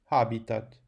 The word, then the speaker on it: habitat: Habitat, porque é que o acento cai no A? Porque o i é breve. E, portanto, o i da penúltima sílaba, sendo breve, faz com que o acento recua.